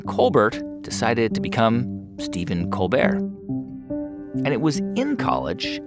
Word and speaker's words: Colbert: youngest of 11 children his family pronounced their last name Colbert the Irish way but Steven's dad told